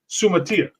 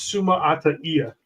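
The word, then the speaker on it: Suamataia: Like everybody says, Kingsley's name, Sumatia. It's Suma Ata Ia, actually, if you pronounce it the correct way.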